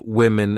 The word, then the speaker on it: women: not women's or woman even though the uh the singular and plural forms of women and woman have the same spelling at the beginning wow M the pronunciations are different woman women so watch out for that when you say this